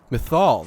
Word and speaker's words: Mythal: I hear fighting ahead methal that's how you pronounce it they still think